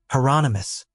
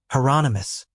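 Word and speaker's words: Hieronymus: Heronomous rhymes with anonymous. Heronomous.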